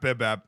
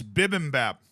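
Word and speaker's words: bibimbap: gracious me oh wait it's not Bibb it's Bib and Bap I keep missing a syllable it's bi oh that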